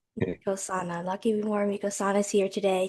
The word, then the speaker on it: Mkosana: Mkosana. Mkosana.